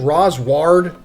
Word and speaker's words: Rosward: I don't know, it's like the whole Japanese thing with R's and L's. Sometimes the translation is L, sometimes it's R, and they can't really pronounce L's that well. But anyway, in case anyone was curious, Roswald is Rosward.